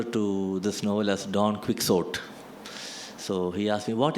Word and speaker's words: Quixote: Are you sure it's Quixote? I said, I'm sure it's Quixote. That is how it is pronounced.